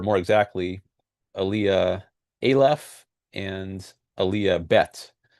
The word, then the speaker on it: Aliyah Bet: exactly Aaliyah Alf and Aaliyah bet which sounds like the alphabet, right?